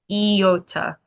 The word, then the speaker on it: iota: Iota almost like the Star Wars character. Not not Yoda, okay? But iota. Eota. All right. And the reason I say it like that is because this vow has an e sound to it. When you say it, then you can remember out the sounds like e, right?